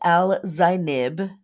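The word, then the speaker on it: Algenib: Similar to Sheet and Markab, some other fixed stars, is Alganib. Its name pronounced Al-Zainib, meaning the side of the horse.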